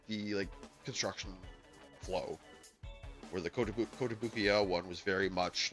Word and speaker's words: Kotobukiya: But I did the Kotobuki one before last week and the week before, or Kotobuki-ya, I think is the actual proper pronunciation.